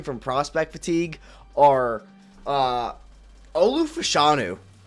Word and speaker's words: Fashanu: Prospect fatigue are uh Olu fashanu fashu it's actually pronounced fashanu that came out this